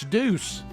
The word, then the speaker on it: deuce: dynamic of the song he said it's Deuce deuce like a Deuce Coupe I don't know